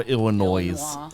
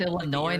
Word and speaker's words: Illinois: our Kansas America explain one that annoys me are people who pronounce the s in Illinois people who call Illinois because it's right there